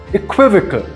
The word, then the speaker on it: equivocal: is pronounced and stressed equivocal with the second syllable stressed the most thanks for watching today's